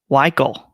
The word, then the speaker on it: Weichel: Larry, my last name is pronounced exactly as yours, only with a K. Weichel.